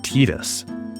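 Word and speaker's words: Tidus: His name is canonically pronounced Tetus.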